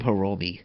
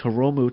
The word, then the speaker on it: Hiromu: I called him Hiromi. My bad. I called him Hiromi earlier. It's Hiromu Takahashi. I'm just looking at my notes here. So it's Hiromu.